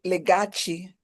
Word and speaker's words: Legachi: first of all, so it's pronounced Legachi. Yeah. Oh, Legachi. Call me Legachi.